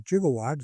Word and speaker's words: gigawatt: So the electrical engineers all pronounce it with a soft G and the computer engineers all started pronouncing it with a hard G.